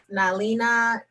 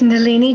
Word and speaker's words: Nalini: And we will move on to Miss Nalina. And I'm sure I pronounced that wrong, so correct me. Yes, thank you. It's Nalini.